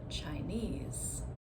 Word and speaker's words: Chinese: So if I say the word Chinese, Chinese you can see again like employee I'm stressing the suffix.